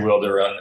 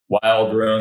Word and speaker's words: Wilderun: to run we uh that's that's how we say it we say wilder run um to be fair